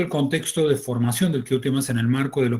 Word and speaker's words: Vkhutemas: QTMAS, o QTMAS en realidad, porque se pronunciaría como una especie de K con J, era una palabra compuesta